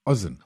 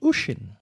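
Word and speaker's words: Oisín: Oen almost. Osama bin Laden. No, I don't think the Irish name their children that. It is pronounced Ushin.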